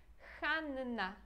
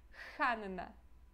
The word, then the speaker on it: Hanna: é um outro nome esse nome aqui tem h e a gente pronuncia esse H com o ok então Hanna Hanna tá bom e